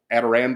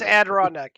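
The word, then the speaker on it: Adirondack: easy to cook couple adarand dos how do you say that adarand do chairs it right yeah I've never I've never heard it so I just don't no it's Adon neck yeah name it for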